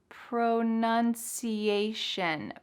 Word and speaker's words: pronunciation: say are you ready pro nun c a shun that t-i-o-n is gonna sound like an s-h shun let's try to speed it up a little bit pronunciation pronunciation pronunciation how's your